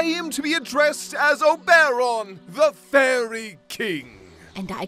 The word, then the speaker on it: Oberon: Now, I keep telling you, in this world, I am to be addressed as Oberon, the Fairy King. And I keep telling you, it's pronounced Oberon, you know, like moron.